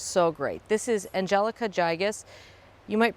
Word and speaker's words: gigas: This is Angelica gigas. You might pronounce it gigas. I pronounce it gigas, G-I-G-A-S.